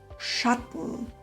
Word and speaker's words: Schatten: Der Laut am Ende ist sehr leicht, auch Schatten ist nicht ganz richtig. Hier hört man den Vokal gar nicht. Also Schatten, lachen, geben und so weiter.